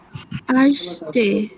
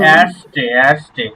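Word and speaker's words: erste: বলেন তো একজন ভাইয়া আমি বলবো হ্যাঁ বলেন আর্স্টে প্রথম এরস্টে এটা এর মধ্যে উচ্চারণ হবে না এরস্টে এরস্টে ওকে প্রথম নাম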